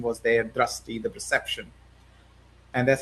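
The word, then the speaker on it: दृष्टि: Do you do you pronounce it drasti or dristi? Dusti. Dusti. Okay.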